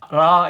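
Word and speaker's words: ر: 자, 그래서 여기는 알 발음이니까 R을 쓰고 라 이렇게 발음하시면 돼요.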